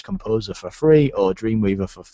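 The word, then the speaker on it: KompoZer: Now, the one that I recommend if you're looking for a free one is called Composer, spelt with a K.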